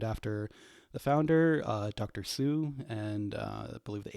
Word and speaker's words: Hsu: wrong result so it's Hsu research pronounce Sue so um you know